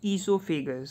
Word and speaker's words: esophagus: This is also called as esophagus. So O is silent.